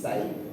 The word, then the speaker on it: psi: If you're curious, this is a Greek letter which is pronounced psi. That's how it's pronounced.